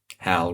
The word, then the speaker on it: HAL: "Hal rhymes with Cal.